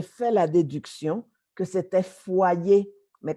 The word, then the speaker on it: foyer: yo vivo, dans une faudrière, qu'est-ce que ça peut bien être faudrière? Finalement, j'ai fait la déduction que c'était foyer, mais comme ça s'écrit F-O-Y-E-R, elle a prononcé à l'espagnol faudrière, et alors là, vraiment, j'aurais jamais compris.